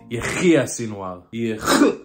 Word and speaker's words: Yahya Sinwar: Oh, wait, let me pronounce it the way a true Israeli would say it. Yahya Sinwar.